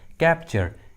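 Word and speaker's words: capture: तो जब भी किसी इंग्लिश वर्ड्स में टी के बाद यू आर ई आता है तो टी का उच्चारण च होता है, ठीक है, टी को च पढ़ते हैं।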